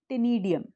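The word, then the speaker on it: ctenidium: It starts with C, इट is silent, so we call it टेनिडियम।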